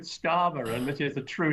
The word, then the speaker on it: Starmer: Drama rhymes with Starmer, and this is a true Starmer-rama drama.